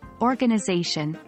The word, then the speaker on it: organization: syllables consider the word organization the primary stress is on the fourth syllable but there is a secondary stress on the first syllable or ganization so how